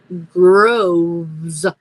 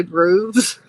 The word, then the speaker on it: Groves: hear me right now my last name is pronounced Groves like a Grove of trees but when you say grooves I I gigle all